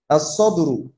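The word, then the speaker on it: الصدر: আচ্ছা, সদ দিয়ে যদি শুরু হয় তখন আলিফ লাম যুক্ত হলে সেই কালিমাতে আমরা কি করব না, লাম উচ্চারণ করব না। as-সদরু, as-সদরু হচ্ছে কি চেস্ট।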